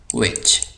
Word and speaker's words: which: इसी तरह जो तीसरा लफ्ज़ है इसको हम पढ़ते हैं विच, यहाँ पे दोबारा एच साइलेंट है तो इसको हम पढ़ते हैं विच।